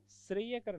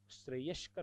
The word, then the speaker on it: श्रेयस्कर: श्रेयकर, एक शब्द लोग काम में लेते, श्रेयकर, श्रेयकर नहीं होता, श्रेयस्कर होता है। देखना, मैं कुछ शब्द आपको बताऊं, विशेष शब्द आप ध्यान रखना। लोग क्या बोलते हैं? श्रेयकर। होता क्या है? श्रेयस्कर।